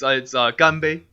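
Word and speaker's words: 干杯: Yeah, it's ganbei.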